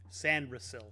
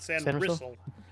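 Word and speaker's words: Sainristil: Anil I believe huh San ril not sand Rell sand Rell a close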